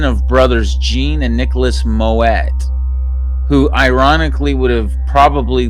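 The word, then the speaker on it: Moët: way first it's pronounced moet as if a baby was oh wow as if a baby was asking you to add more water more wet please wow more wet i was saying more way more wet people who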